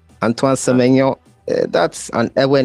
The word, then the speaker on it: Antoine Semenya: Before we go on, can you just give me your name so we know how to pronounce it? Because, the full name. Antoine Semenya. Antoine Semenya.